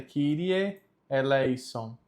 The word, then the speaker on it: Kyrie eleison: é de grego, mas a pronúncia correta é Kyrie eleison. Kyrie eleison. Christe eleison. Christe eleison. Kyrie eleison. Kyrie eleison. Percebam que o E ele é sempre aberto.